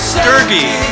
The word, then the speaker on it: Doerge: Next is Leland Sklar, Russell Kunkel, and Doerge. It rhymes with Fergie, don't forget.